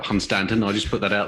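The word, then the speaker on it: Hunstanton: number one i think you'll find it's pronounced hunstan if you uh live in north norfolk even though it's spelt constantin i'll just put that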